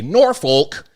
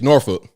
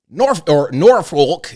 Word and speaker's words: Norfolk: when somebody's not from Virginia if they say Norfolk. That's not how you pronounce it. It's Norfolk. Norfolk. It's like you're doing too much rolling with your teeth in your mouth, man. Just say Norfolk.